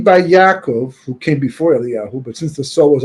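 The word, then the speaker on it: אליהו: We always pronounce it Eliyahu, but the Vav is not there.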